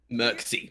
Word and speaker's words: Mircsy: We are doing the animatics to, I'm going to butcher the name, Panda. How do you say the name? Mircsy? Mircsy.